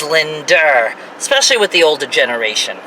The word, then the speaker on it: Linda: Like the name Brenda is Brender. Linda is Linder.